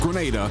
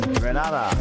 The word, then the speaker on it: Grenada: That's why the Investment Migration Agency of Grenada is proud to support sports initiatives as part of our commitment to youth and national development.